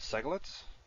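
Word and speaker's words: segolates: special class of nouns called seglets stress on the first syllable segal in one or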